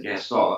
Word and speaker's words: Gaston: with a quiet French accent. Because no one's as arrogant as Gaston.